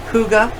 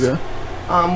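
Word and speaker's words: hygge: anything from tarot to crystal healing crystals, about Reiki, about chakra, self-care, which is Huga, it's pronounced. Huga.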